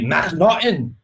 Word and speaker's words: McNaughton: Yeah, I think it's technically McNaughton, but yeah.